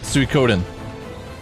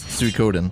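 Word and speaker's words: Suikoden: know about that Leo I'm pretty sure it's suicodin oh either way I'm gonna say it that way I don't give a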